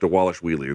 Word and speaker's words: Dvalishvili: I'm sure I'm fucking his name up, but they say on the broadcast Dvalishvili. There's a V there, but they pronounce it like a W. 7-fight win streak for Dvalishvili.